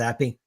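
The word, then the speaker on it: Zappe: Is it Zappy?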